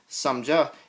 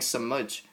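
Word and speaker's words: समाज: But instead of saying samja, you're saying samaj, because there's no ah sound at the end. You're just going to pronounce these as they're spelled, samaj.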